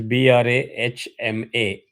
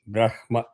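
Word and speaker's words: ब्रह्मा: line it is Brahma the way I teach is it is b r a h m a Brahma. 99.99% of the people are used to Brahma b r a m h a.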